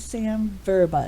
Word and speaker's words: Verba: exactly so I should have introduced you as Sam verba is that correct pronunciation yes perfect Samantha Boba all right well